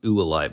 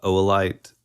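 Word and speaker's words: oolite: stone it is no it's it looks like uite but it's actually pronounced oite Limestone okay so it's somewhat like um I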